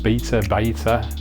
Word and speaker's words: betta: A betta tank, so a fighter, betta, beta. David Attenborough pronounces it betta, so that's what I'm sticking to.